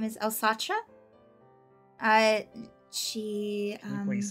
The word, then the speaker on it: Eilsatra: I pronounced it Nice. Elsatra.